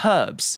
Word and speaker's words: herbs: It's just like when people say herbs and Americans say herbs. It's like, no, there's a H there, sir. It's herbs.